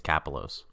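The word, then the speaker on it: Kapelos: I think it's Capolis, yeah. I think Steve was pronouncing it differently, but I think it's Kapolos. Kapolos, John Kapolos.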